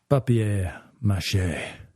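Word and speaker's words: papier-mâché: Papier mache.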